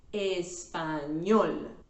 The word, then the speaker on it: español: The stress syllable is at the end, la última sílaba, sílaba número 3 in this case, español.